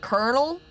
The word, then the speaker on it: colonel: an L instead, but elsewhere in English, they continue just pronouncing it with an R anyway.